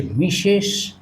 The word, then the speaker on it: Mrs.: অর্থাৎ এখানে মিশ এটা হচ্ছে মিশেষ আর এটা হচ্ছে এর সাউন্ডটা হবে আমরা কি